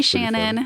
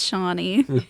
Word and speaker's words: Shawnee: you all confidently talking yeah hi Shannon and I was like it's Shawnee did he turn red